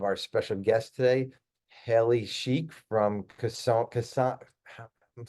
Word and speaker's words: Schiek: Kasona Coaching, Haley Sheik.